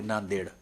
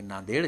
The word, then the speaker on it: नांदेड: डी ई डी है तो यह देड है देड में डी और डी दो बार डी आया और दोनों का उच्चारण अलग अलग है तो ऐसी विसंगतियां यह